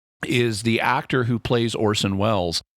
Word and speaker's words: Orson: Instead of saying Orson, he keeps saying Orson. Right. It's like, no, that is an S, not a Z sound. It's Orson Welles, not Orson Welles.